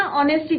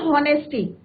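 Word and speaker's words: honesty: कई बच्चे बोलते हैं ना ऑनेस्टी को बोलते हैं हॉनेस्टी, बट इट्स नॉट हॉनेस्टी। एच क्या रहता है बच्चों? यहाँ पे साइलेंट रहता है।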